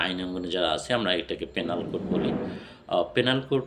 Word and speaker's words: Penal Code: যারা আছে আমরা এটাকে পেনাল কোড বলি। পেনাল কোড উচ্চারণটাও সঠিক নয়। ইন্টারন্যাশনাল ফনেটিক্যালি এটা উচ্চারণ হয় পিনাল কোড।